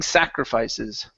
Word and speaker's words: sacrifices: The stress is at the very beginning. We're all making sacrifices.